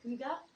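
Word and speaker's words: hygge: weird uh not a not a lot of you I guess know how to pronounce it because people come in and chat about it a lot but it's h y g g e um but it's a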